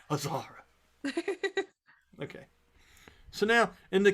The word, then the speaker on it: Azara: And when you pronounce that, I know it's spelled A-Z dash A-R-A, but you're pronouncing it with like an H sound, aren't you? Yeah, I am. Say it for me again. Azara? Azara. Azara.